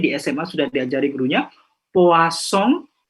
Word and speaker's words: poisson: Par exemple, mungkin di SMA sudah diajari gurunya poisson, P-O-I-2-S-I-N ya, I-O-N ya, artinya ikan. Kalau S-nya satu, poison, S-nya antara dua huruf artinya racun.